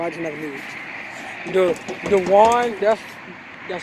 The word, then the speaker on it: De'juan: DeJuan, that's how you pronounce your name. Am I pronouncing it right? Yes. DeJuan.